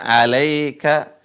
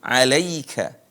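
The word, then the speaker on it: عَلَيْكَ: Ya Sukun Wika allaakka tapi dibacanya alai bukan alai sering dibaca Alaika Alaika pakai e alai yang benar ada pakai I Alaika yang benar ada pakai I Alaika Wika wa allak ib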